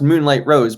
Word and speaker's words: Mewnlight Rose: it's not because it's it's pronounced moonlight rose but of course you know there's a misspelling of uh the word moonlight there so kind of how